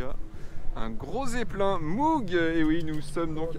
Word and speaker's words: Moog: Donc c'est vrai qu'en France, on le sait pas trop, mais on prononce Moog. On prononce pas Moog. Mais bon, bien sûr, je vous en veux pas. On peut prononcer Moog aussi. Moi, je l'ai fait très longtemps.